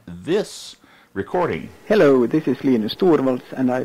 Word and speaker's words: Linus Torvalds: Linus Torvalds, you know that we pronounce it that way because that's how he pronounces it, as in this recording. Hello, this is Linus Torvalds, and I pronounce Linux as Linux.